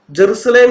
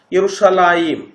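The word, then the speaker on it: ירושלים: ഉച്ചാരണ കേൾക്കുമ്പോൾ അത് മനസ്സിലാകും ജെറുസലേം എന്നാണ് ദീദാത്ത് ഉച്ചരിച്ചത് ഹീബ്രു ടെക്സ്റ്റിൽ ജെറുസലേം എന്നല്ല യറുഷലായിം എന്നാണ് എഴുതിയിരിക്കുന്നത് യുറുഷലായി ദീതാദാത്തിന് ഹീബ്രു വായിക്കാൻ അറിയുമായിരുന്നെങ്കിൽ യറുഷലായിം എന്ന് തന്നെ വായിക്കുമായിരുന്നു അല്ലാതെ ജെറുസലേം എന്ന് വായിക്കില്ല മനസ്സിലായോ അതുമാത്രമല്ല മുഹമ്മദിം എന്നാണ്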